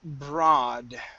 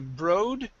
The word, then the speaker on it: broad: have uh the word broad right here instead of brode it's bra broad brat okay very nice and